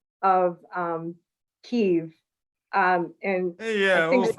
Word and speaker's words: Kyiv: So you say Kyiv. I think that some of us know or have heard it pronounced like Kiev, but we'll pronounce it Kyiv.